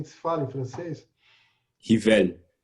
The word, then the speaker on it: Rivail: Rivel. Rivel. Ó, viu? Bacana. Nada como a pronúncia certa.